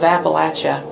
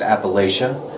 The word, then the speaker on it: Appalachia: So some people might hear it as Appalachia. Yes. Right? I think Northerners pronounce it Appalachia, and you pronounce it Appalachia.